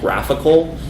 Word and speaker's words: GraphiQL: This is called Graphical. It's spelled GraphIQL.